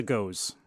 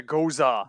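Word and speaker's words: Gose: is is phenomenal and this is a ghost sorry i didn't mention that before it's a ghosa goes uh i'm sorry yes i will never understand how that's pronounced that way there's everything above the e to say that you should pronounce it that way yeah i mean that's the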